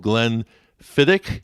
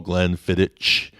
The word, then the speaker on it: Glenfiddich: the shelf of scotch called glen fittick i used to call glenfiddich because that's just the way it looked so understand you're going